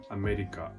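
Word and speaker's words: アメリカ: For example, the word America. In Japanese, it's pronounced America.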